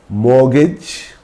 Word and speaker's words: mortgage: Moreover, there are a number of random words with silent T and we need to learn them. These words do not follow any rule. So, we have to remember these words. For example, asthma, it's not asthma, asthma, Christmas, Christmas, mortgage, mortgage, it's not mortgage, mortgage, soften, etc.